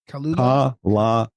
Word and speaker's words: Kalalau: How do you pronounce it? Kalalau.